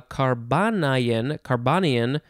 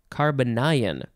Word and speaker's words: carbonyl: to carbanion see carbanion carbonyl carbonyl that is not how i would want to say that word but anyway uh how